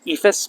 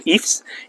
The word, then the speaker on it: EIFS: A lot of people pronounce it EIFS, but it's really EIFS, and it's kind of a synthetic stucco.